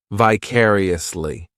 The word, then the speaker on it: vicariously: This adverb has five syllables and the stress is on that second syllable, vicariously. The third syllable, it's like that letter I, just has that e sound. And the fourth syllable has the schwah.